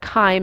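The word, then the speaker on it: chyme: h y m e looks like chime but spelled wrong uh but Kim is how you pronounce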